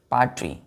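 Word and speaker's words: paltry: हैं इसको पल्ट्री पल्ट्री पाट ठीक है एल साइलेंट में रहता है पाट पढ़ते हैं इसको पल्ट्री डर्टी पाट एंड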